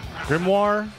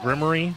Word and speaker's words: grimoire: the grimy of souls actually grimoire not grimy that's not how you say that word